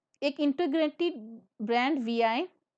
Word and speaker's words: Vi: एक integrated brand वीआई को announce किया वोडाफोन और आइडिया ने। इस वीआई वर्ड की प्रोनाउंसिएशन उन्होंने क्या रखी? वी।